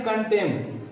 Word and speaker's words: contemn: के बाद N है, हम इस N का प्रोनाउंस नहीं करेंगे, सीधा कंडेम पढ़ेंगे। कंडेम मीन्स होता है निंदा करना। दूसरा है कंटेम, यानी CONTEMN, कंटेम मीन्स क्या होता है?